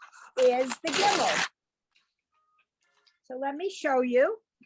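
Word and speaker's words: גימל: And this letter is the Gimel. So let me show you. It has the sound of the G, but the hard G. It looks like this. It's the Gimel.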